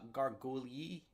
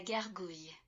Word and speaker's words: gargouille: Um a dragon called La Gargouille. Gar- gouille. I'm going to make sure I translate it to you. Gargouille. Gargouille. I think it's Gargouille. French, right? Like French. Like Go- guille. Go- guille.